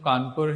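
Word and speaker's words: Cawnpore: That is the spelling of Kanpur here. And the reason is, Louis Fisher is the writer, and they pronounce it like that, Kanpur, Singapore and all like that.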